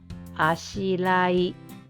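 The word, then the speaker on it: あしらい: So, instead of saying Ashirai, let's pretend this is L. Ashirai. Ashirai.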